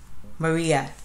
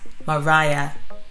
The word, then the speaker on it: Mariah: so fact number one some people call me maria other people call me maria another group of people call me maria which i find quite weird anyway and the actual pronunciation of my name is mariah but i answer to